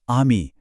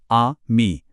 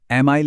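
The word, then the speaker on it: ami: French में इसकी आवाज एकदम खुली हुई होती है, बिल्कुल हमारे हिंदी के आ जैसी। जैसे एक शब्द है आमी, जिसका मतलब है दोस्त। इसको बोलेंगे आ मी, सिंपल। एमाइल ऐसा कुछ नहीं, बस आमी।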